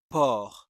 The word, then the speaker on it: porc: Number one, it is poor. There is no P. There's a C at the end of the word, but it is not pronounced.